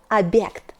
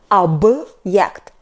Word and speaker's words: объект: It has no sound. It shows hardness of consonant before. For example, объект, объект. Be attentive, not объект, but объект. B is hard, like in boring.